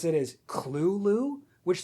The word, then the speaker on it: Cthulhu: Also, I should mention Lovecraft says the correct way to pronounce it is Clulu, which sounds like a children's cartoon rabbit.